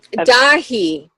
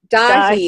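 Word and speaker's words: Daithí: How do you say your name again? Dahi. Dahi. It's Irish.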